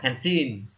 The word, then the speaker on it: canteen: từ nó có cái nhóm tin này ở đằng sau này, thì cái trọng âm của nó sẽ nhấm vào sẽ nhấn vào cái từ tin này. Ví dụ từ này chúng ta sẽ đọc là canteen.